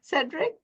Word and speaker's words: Cedrick: Thanks Armen Cedric if I'm pronouncing your name right.